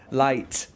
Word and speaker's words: light: on the light yeah light don't forget the T otherwise it sounds like you're saying lie turn on the LIE